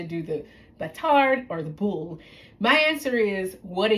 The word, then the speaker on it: boule: You can use a round one for a sourdough boule. That's what is pronounced, boule, which is French meaning round.